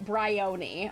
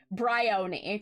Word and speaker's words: Bryony: by uh Bry bryony bryony is that right so it's like the Oni is pronounced like Pony uh Bry bryony okay there's a bath